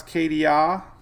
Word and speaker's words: Katia: Acadia if you want to know how to pronounce Katia it's I knew I butcher edelia I think